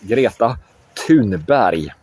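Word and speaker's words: Greta Thunberg: Her name is Gerata Tun. So there is no th in Swedish.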